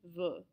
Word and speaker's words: veux: E-U-X is going to be pronounced E. Je veux.